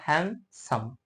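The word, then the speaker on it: handsome: डी है तो डी डी के बाद में एस है इस केस में यहां पे इनके बीच में कोई भी वोल का साउंड नहीं यूज किया गया इस कारण से हम इस डी को साइलेंट करेंगे और हैंड सम इस केस में हम इसे हैंडसम पढ़ेंगे अमाउंट तो समझिए जैसे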